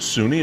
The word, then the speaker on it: Suni: Butch and Sonny. Now, you might pronounce it Suni. It's S-U-N-I, but...